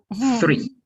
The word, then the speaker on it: three: Es mucho mejor decir ese three que decir un tree muy fuerte, porque tree ya directamente se lo entiende como árbol.